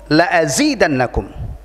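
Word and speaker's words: لَأَزِيدَنَّكُمْ: Lamnya itu lam taukid, jadi harus dibaca pendek. La in syakartum la azidannakum.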